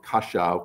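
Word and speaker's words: Košice: And by the way, my mother was born in this town of, she calls it Kaszow, because I think that's the Hungarian pronunciation of it, but I think the Slovakian pronunciation is Kosice.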